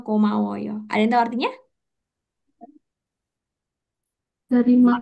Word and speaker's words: 고마워요: Betul ya, G-nya itu agak ke arah K, jadi jangan medok-medok, jadinya 고마워요.